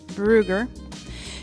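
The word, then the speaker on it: Brügger: This one that I'm about to show you is called a Brugger stretch, Brugger, but with the U, it has those little dots on top, so I think it's pronounced Brugger.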